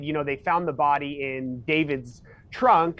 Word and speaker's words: D4VD: And I know he spells his name D4VD, but it is pronounced David, correct? Correct. David that's how it's stylized, but David Burke.